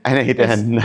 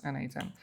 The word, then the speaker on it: n8n: n8n. It's like Kubernetes, K8S. Okay. It's a numeronym.